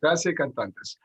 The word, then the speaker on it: Gratia Cantantes: Gratia Cantantes. Yes. Gratia Cantantes.